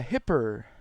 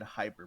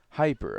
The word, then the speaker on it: Hipr: very special guest uh hipper is that is that how you pronounce it hipper nah it's meant to be uh said hyper but a lot of people do say hipper so i kind of